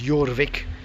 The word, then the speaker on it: Jorvik: this became known as jorvik pronounced for a y spelt with a j the viking capital of